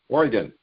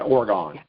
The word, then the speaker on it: Oregon: time and it says it's pronounced o-r-y-g-u-n oregon not orgon oregon's a gas that's right you know we're going to work on are two different types of gases so you know